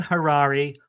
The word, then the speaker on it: Harary: Dan Harrari rhymes with Ferrari the car.